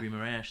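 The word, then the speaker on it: Guimarães: I like saying Guimaraes. That's a fun way to say it, yeah. Guimaraes, that's how you say it, yeah.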